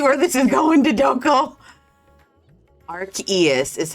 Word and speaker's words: Arceus: Like, can we spell it phonetically for me? Is it Arceus?